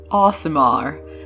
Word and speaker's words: Aasimar: let's get started now the official way to pronounce Asmar is wait for it Asar aamar but I feel like an idiot saying it like that so I'm just going to say asamar and they are descended from a Celestial being